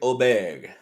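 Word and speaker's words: Åberg: the board our guy ludvig oeg that's what that's how we're pronouncing it this week yeah we're we're right this week um nine to one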